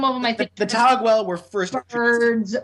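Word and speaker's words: Taguel: a buddy slum it's actually pronounced it's actually pronounced togwell that's what she says in in combat okay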